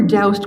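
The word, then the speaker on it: Doust: HD Curtis he were doused Curtis I learned how to pronounce his middle name by phoning his last living student at asking I was told to rhyme with soused no I think it's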